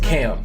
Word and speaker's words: KHAM: an artist by the name of Cam his name is spelled k h a m he had a